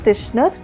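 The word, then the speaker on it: Titchener: method uh introspection methodology it is b pronounced as krishna but the spelling is e-i-t-c-h-e-n-e-r oh okay exactly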